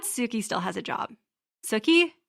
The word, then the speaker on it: Suki: Suki? How do I always get her name wrong? Yes. No, you almost call you. her... Yeah, I know. But usually when you're saying it sounds like you're saying Snooki.